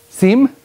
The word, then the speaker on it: sim: Sim? It has an M on it? You don't pronounce it. Sim. It's weird. Sim. Like sin?